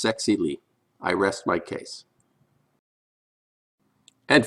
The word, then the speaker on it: Zexi Li: The Wuhan virus woman said her name is pronounced Zexi Lee.